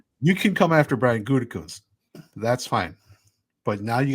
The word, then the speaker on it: Gutekunst: better first round drafting I am than Dan Gunthurst, or however you pronounce his Oh, that last wasn't name. even close. It's Brian. Whatever. I really Brian just don't care. Gutekunst.